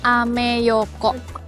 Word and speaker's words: Ameyoko: Nah bacanya ameyoko.